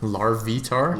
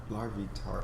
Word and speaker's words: Larvitar: be on our larvitar larvitar yeah but like it's like larva entirely I don't know man sounds like lard lard lard larvitar because you say like